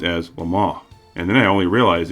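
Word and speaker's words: Le Mans: ever knew this car until I heard it pronounced as Lama and then I only realized it was because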